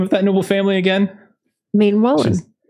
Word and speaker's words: Maenwallen: is the name of that Noble family again main Wallen Maine Wallen and that's how we're pronouncing it so make sure yes got that